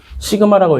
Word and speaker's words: 시그마: 그래서 지난번 잠깐 얘기하긴 했지만 이제 이렇게 생긴 거죠. 시그마라고 읽어요.